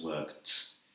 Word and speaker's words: worked: maybe you've noticed that so work becomes worked has like a tea sound and start become started